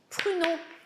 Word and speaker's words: pruneaux: D'abord, pruneaux. Encore le U, pruneaux. Pruneaux. Avec le O à la fin, très long.